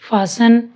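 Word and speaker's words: fasten: टी सी एच, टी सी एच, टी सी एच, तो इसमें T silent है। Watch, विच, match, scratch, फासन, लिसन।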